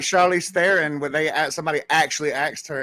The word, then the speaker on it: Theron: That's like Charlize Theron, when somebody actually asked her in an interview, and she said, "Okay, it's South African. It's actually pronounced throne, like like Game of Thrones.